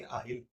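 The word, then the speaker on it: I'll: अगर इसको प्रोनाउंसिएशन के हिसाब से बताऊं तो आप बोलोगे आहिल।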